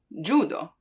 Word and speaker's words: judo: So we have J, J, for, let's say, judo, judo, because that's how it's pronounced in Japanese, right?